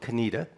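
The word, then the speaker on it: Conetoe: Reverend Joiner, who you mentioned in a little town called Canita. Uh, you won't be able to find on a map because it's spelled C O N A T O E,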